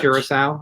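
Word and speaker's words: Curaçao: Curacao, I think is how you pronounce it. I always call it Caraco, but I think it's Curacao.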